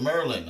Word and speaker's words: Maryland: like like real Marylanders, you pronounce it Merlin.